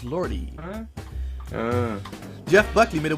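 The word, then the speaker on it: Lorde: How do you pronounce it? S-I-A? Sia? No, it's Lordy.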